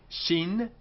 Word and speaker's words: Shin: them and we say with a DOT on the right hand side Shin sh and the dot on